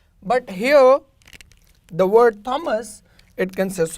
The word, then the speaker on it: Thomas: But here, the word Thomas, it consists of two syllable. Thomas. ये क्या है? Thoms तो नहीं कह रहे ना इसको. That is actually Thomas.